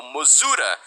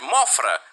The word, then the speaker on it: Mothra: chamam de Mothra ou Mozura. Eu chamo de Mothra porque as versões que eu assisti dos filmes eram as versões em inglês e a pronúncia era Mothra, semelhante à palavra em inglês moth, que significa mariposa.